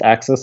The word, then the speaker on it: AXS: he made called axis I think it's pronounced axis it's AXS and it's basically this